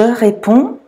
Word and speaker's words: réponds: They're actually silent. All three of those are pronounced the same way and you don't pronounce the D's or the S's on the end. Je réponds, tu réponds, il, elle, on répond.